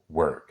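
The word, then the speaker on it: wyrd: Wy Rd is pronounced in Old English it's pronounced word so literally I got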